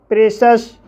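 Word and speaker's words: precious: जैसे प्रेशस, प्रेशस शब्द में CIOUS आया है और यहाँ पर CIOUS का उच्चारण सस हुआ है, इसलिए इसे प्रेशस पढ़ा जाता है।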